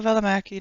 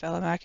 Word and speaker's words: Välimäki: I don't think it's actually pronounced Välimäki. It's like Välimäki. Like the emphasis on the syllables is different, so you'd have to ask him the correct way to pronounce it.